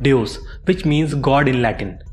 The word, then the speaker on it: Devs: English alphabet V but the Roman alphabet V which is pronounced as you thus it is form the word Dios which means God in